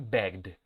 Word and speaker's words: begged: Este se va a pronunciar con la D. Begged. ¿Por qué? Porque el último sonido de consonante de su verbo base, la G, es una consonante sonora. Y dijimos arriba que cuando la consonante sonora era el último sonido del verbo, se va a pronunciar la ed como si fuera una D.